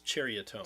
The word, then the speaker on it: Cherrytone: Yeah, it's Cherrytone. Cherrytone. Yep. I think I remember you saying just like cherry trees.